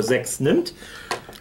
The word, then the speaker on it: Sechs nimmt: That's the correct pronunciation, by the way, for Sechs nimmt.